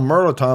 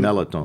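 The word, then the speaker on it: mirliton: it looks like it it's spelled merliton but nobody nobody says that's the melatonin they let the r out completely so uh this squash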